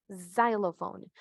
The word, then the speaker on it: xylophone: Por ejemplo, pero varía un poco si si es un instrumento como el xylophone, el sonido cambia, xylophone. Ya no hacemos el X, ¿verdad? Es casi la única palabra que va a tener como que este cambio con X, ¿verdad?